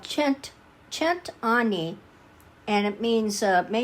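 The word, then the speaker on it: cent'anni: had to look it up it looks like scent Anie but it's it's pronounced it's an Italian uh toast called chent chent Ani and it means uh may you live a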